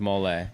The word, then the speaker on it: mole: It's not pronounced really mole sauce. It's pronounced mole.